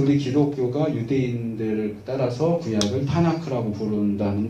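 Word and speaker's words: Tanakh: 그래서 TNK인데 TNK를 묶어서 발음할 방법이 없잖아요. TNK라고 하지 않으면. 이걸 발음을 원활하게 하기 위해서 보조 모음인 A를 넣어가지고 타나크 이렇게 부릅니다.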